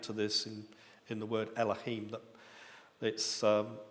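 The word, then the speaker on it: אלהים: That it's not the aleph that is pronounced at eh, it's the vowel sound that's added to it. In fact, there is a pointing that's added to it, which creates that eh sound.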